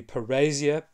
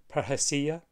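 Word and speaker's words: parrhesia: an Anglo sized version of it would be per Asia but it's more correctly pronounced per hacia and that word refers to a certain kind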